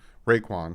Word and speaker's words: Roquan: Raekwon. I think it's Raekwon Smith. It's with an O, so I'm just gonna call him Smith because I know I'm gonna say his name wrong.